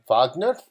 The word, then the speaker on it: Wagner: ricard wagner and again because he's german that's how his name is pronounced richard wagner and his operas are